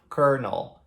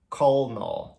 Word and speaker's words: colonel: escreve desta maneira aqui, com um L no meio da palavra, só que ainda assim a gente pronuncia como se fosse um R. Então a gente fala colonel, e não colonel, né? Mas se escreve com L.